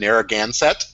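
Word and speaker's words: Narragansett: of Rhode Island Branch libraries in Providence and narraganset which I think I just pronounced correctly did I get that right Joanna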